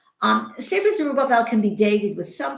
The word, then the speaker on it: Zerubbabel: So the Zerubbabel, I guess is the English pronunciation, who serves as the